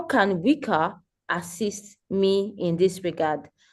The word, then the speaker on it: WICA: So I think I omitted the part where I was supposed to talk about WICA because it is not WICA. So okay. It is pronounced WICA, Women in Infrastructure Community Africa.